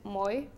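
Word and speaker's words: moi: hello it's in fin is moy like you spell it the same way as you say like me in French so it's Moy yeah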